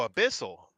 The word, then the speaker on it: Abyssal: that's what I thought but it's a-b-u-y-s-s-a-l Abyssal oh a Bissell okay like an abyss right I think that's what